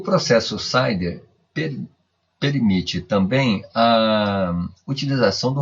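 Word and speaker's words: CIDR: parêntese vamos falar de Class interdomain hoing pronuncia-se Sider conhecido também como supernetting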